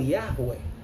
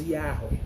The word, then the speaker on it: Yahweh: maioria de nós pronunciamos Yahweh, né? Mas é algo próximo disso, né? Claro que é uma palavra hebraica, né?